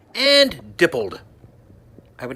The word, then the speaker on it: Dippold: Okay, it's pronounced Feig and Dippold.